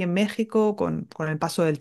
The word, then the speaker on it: México: nativos muchas veces es sin México porque qué se escribe con la x y se pronuncia con la J que sepáis que también